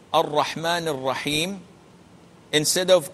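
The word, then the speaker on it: الرحمن: al Rahman al Rahim the L is not pronounced and you cannot pronounce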